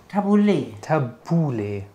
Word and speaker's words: Tabouleh: habe ich das wird wie spricht man es aus Tabouleh tabula Tabouleh Tabouleh also tabula mit E hinten richtig mit E tabula also